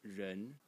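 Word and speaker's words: 人: one over here, which is pronounced ren. In the second tone, it means person.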